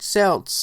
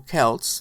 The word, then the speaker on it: Celts: a European U and the ancient Celts or Kelts depends on how you say it believe that it